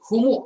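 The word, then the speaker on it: هُمُ: Kemudian hum ini kan dibacanya menjadi humu ya, humul mufsiduna. Kenapa? Karena ini bacanya mau disambung.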